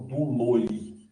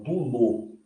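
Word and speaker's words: δούλῳ: Então, por exemplo, aqui, ó, eu não falo duloi, não. Eu não falo fonei. Não. Eu falo dulô, como se não tivesse iota aqui.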